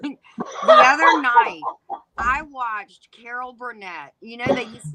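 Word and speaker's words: Karo: Caro. How does everybody on panel, how do you say the word? K-A-R-O syrup. Caro. Hard pass. We're from the South. It's Cairo.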